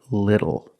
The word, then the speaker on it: little: but phonetically it is when you see tle e or ttle E phonetically the t is between vowels and for this reason the T changes to a fast D in American pronunciation that's why we do not say little we say little and we do not